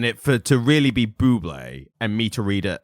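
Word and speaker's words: Bublé: and she said oh I heard that new song from that Michael bubble yeah and he was like you know it's you know it's Buble right and she goes oh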